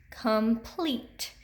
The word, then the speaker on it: complete: And complete. Again, that long E's in the second syllable.